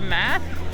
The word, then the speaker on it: math: You know how in your last video when you're recording you said meth instead of math?